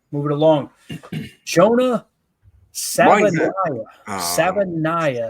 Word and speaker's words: Savaiinaea: Savaiinaea, I think is how you say it.